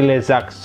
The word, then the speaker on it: les adverbes: yaitu leadbolt Oke adverb lezard bacanya disambung seperti lezax oleh Zalfa B nah Aduh